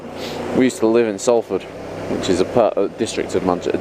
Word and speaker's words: Salford: In the district of Salford. Salford. In the district of Salford. Salford. How would Americans say I'm saying it like that now.